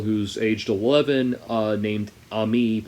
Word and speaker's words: Amy: aged 11 uh named ami spelled amy but pronounced ami uh who is originally